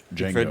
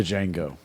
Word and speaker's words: Django: Uh, the Jango fight scene. Django. The Jango. That's the Jango. The D is silent right there.